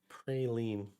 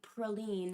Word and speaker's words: praline: Yeah, praline not probably proline not pre I think that that's a regional difference in pronunciation for praline or proline like I think both are correct but I might be wrong about that.